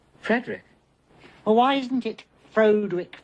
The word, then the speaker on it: Frederick: Frankenstein Frankenstein you're putting me on no it's pronounced Frankenstein do you also say Froude Rick no Frederick why isn't it frode